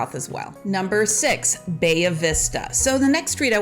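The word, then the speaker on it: Bahia Vista: you to check out bayavista now i did not take spanish in high school i took german but bayvista is probably really not the proper way to say the street name but that's how we say it as a local so if you say it much differently we know that you don't live here so so it's called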